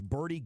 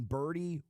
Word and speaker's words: Birdie: your wallet, it's time to level up with Birdie golf balls. That's spelled B1RD1E.